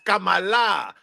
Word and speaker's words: Kamala: just so you know her name is actually pronounced Kamala see that's why he people don't understand it's Kamala right and she was actually born in Trinidad